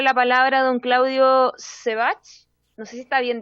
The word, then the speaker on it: Sebach: Es como Sebastián Bach, sin Bastián, digo yo.